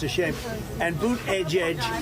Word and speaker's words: Buttigieg: it's a shame and boot Edge Edge should have been here already that's how you say it but he said it's